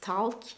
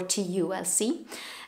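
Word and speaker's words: TULC: And the pattern is called The Ultimate Lazy Cardigan, T-U-L-C, Talc. I guess you can pronounce it Talc or T-U-L-C.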